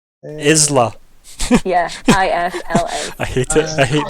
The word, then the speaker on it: Isla: It's Isla without the Y. Mhm. Like the island.